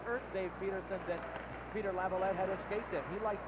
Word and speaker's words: Laviolette: We find out that his family has 2 pronunciations, and I guess he goes more with Laviolette than Laviolette.